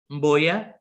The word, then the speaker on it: Mboya: Rene Akitelek Mboya. Mboya, yeah. Did I say it right? Yes, perfect. Yeah.